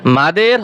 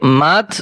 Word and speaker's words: মাদ: মাদের হরফের পরিচয়। হরকতের উচ্চারণ টেনে পড়াকে মাদ বলে। মাদ অর্থ টেনে পড়া, মদ অর্থ আমরা সাধারণত মদ পড়ি, মদ, এখানে হচ্ছে মাদ।